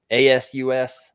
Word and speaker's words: ASUS: Um ASUS. How do you pronounce that?